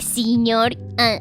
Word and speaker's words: señor: Actually, some people do pronounce it like señor y señora, like with E, but that's like just local pronunciation. The correct pronunciation is señor.